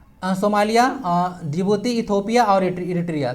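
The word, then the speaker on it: Djibouti: Somalia, जिबूती, D silent होता है, जिबूती, Ethiopia, south Sudan या फिर इटरिया।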